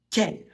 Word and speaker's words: quel: Pour la prononciation, ça se prononce quel Q et U, ça fait le son que. On ne prononce pas le U.